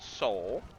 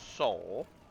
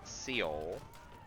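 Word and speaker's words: Seoul: Then it's pronounced soul. You march for soul, not seal.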